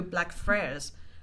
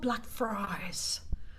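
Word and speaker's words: Blackfriars: said, "Oh, can I buy a ticket to Black Fra?" And they turned to me and they're like, "What? It's called Black Fries."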